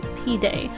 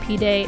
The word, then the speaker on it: pide: And then I also got the Turkish dish that was recommended to me, which I believe is pronounced pide. I may be wrong, but it's spelled P-I-D-E.